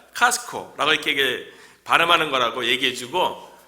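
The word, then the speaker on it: Costco: 그런데 이제 그 목사님께서는 코스트코가 아니라 카스코 이렇게 반하는 거라고 얘기해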